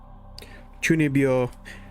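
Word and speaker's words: chūnibyō: There is a anime specifically called Chunibyo because that is all that happens in the anime.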